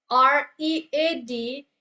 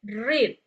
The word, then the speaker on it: read: So this word R E A D is not pronounced that as read. Instead is pronounced as read.